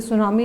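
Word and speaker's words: tsunami: Means जैसे सुनामी, ये टी ऐसे तुनामी कुछ, इसमें जो टी होता है दैट इज़ साइलेंट, टी से इसका स्पेलिंग जो है स्टार्ट होती है, यानी टी सुनामी।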